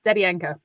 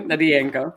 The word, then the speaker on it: Dedianko: It's Dedianko. Dedianko. Philip actually told me, and then I forgot. So thank you, Dedianko.